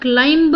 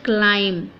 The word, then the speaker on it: climb: करते हैं, तो वो राइट की जगह रॉन्ग प्रोनाउंसिएशन बन जाता है। तो इसको कभी भी आप क्लाइंब ना बोलें, इट इज़ क्लाइम।